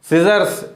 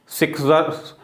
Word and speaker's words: scissors: तो सिजर्स, SCISSORS, सिजर्स है ना, सिक्सर्स, एस सी, सिक नहीं पढ़ेंगे उसको, ठीक है ना, सिजर्स, एस सी, केवल एस का साउंड होगा, सी का साउंड नहीं होगा, सी का उच्चारण वहाँ साइलेंट है।